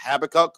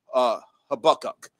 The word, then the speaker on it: Habakkuk: how to pronounce Habakkuk, there's actually two pronunciations for the way, you know, it's said to pronounce it. It could be pronounced Habakkuk or it could be pronounced Habakkuk. That was the two that I saw. But I'm going with Habakkuk.